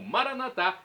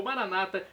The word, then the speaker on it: Maranata: E agora do aramaico, eu clamo Maranatá, como dizemos nós católicos, ou Maranata, como dizem nossos irmãos separados, os evangélicos ou protestantes. Não importa a pronúncia, o significado é o mesmo: vinde, Senhor Jesus.